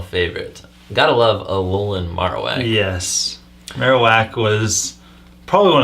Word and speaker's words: Marowak: coolest thing about this Marowak you were subtly correcting me on the pronunciation weren't you I think so what did I pronounce it I think I said marak and you said Marowak maros makes more sense